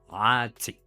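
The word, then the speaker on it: اعطي: The number 3 symbolizes letter Ain, so typical of Arabic language. If you can't pronounce it down in the throat, just do a long A at the back of the mouth. Note that the T is strong as well.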